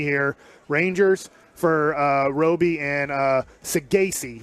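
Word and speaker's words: Saggese: If you're following me here, Rangers for Roby and Sagasi. We said it wrong, but Sagasi is how you say it.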